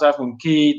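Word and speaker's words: Half Moon Cay: But Moses says, Half Moon K, full-time retiree. I guess if you pronounce Half Moon Key, then yes, it rhymes with full-time retiree. Yeah.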